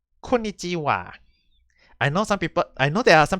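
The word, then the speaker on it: こんにちは: I would just say that ha and wa. It's just that it's just old Japanese way of pronouncing it for the ha, and it's written as wa. So basically, it's very simple. Is that in this case we always use konnichiwa and konbanwa.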